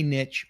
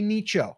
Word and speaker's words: niche: We're always going to pick a niche or a niche or a nicho, however you want to call it. I say niche because it rhymes with riches are in the niches.